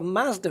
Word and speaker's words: Mazda: I think the Z is like a ZU kind of thing, Mazda. So Mazda is Mazda, correct.